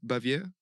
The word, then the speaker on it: Baviere: partner of a former guest we have bavier did I say that's how you pronounce yeah I'm very glad to be here